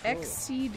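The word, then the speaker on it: XSEED: Exceed games. Exceed? Like exceed? That's spelled X seed.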